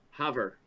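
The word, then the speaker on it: Havre: look it up okay not rhyming with brett farve or have rey the correct pronunciation of the highline town's name is hover got it i like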